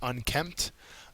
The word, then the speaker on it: unkempt: Next word is unkempt. Hopefully your bedroom does not look like this, or it would be unkempt. It's an adjective. The second syllable is accented.